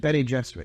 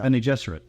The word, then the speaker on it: Bene Gesserit: Bene Gesserit, you pronounce it? Bene Gesserit, yeah. Bene Gesserit.